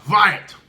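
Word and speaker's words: Hwæt: first line right there that first word is pronounced riot what it means is listen so I was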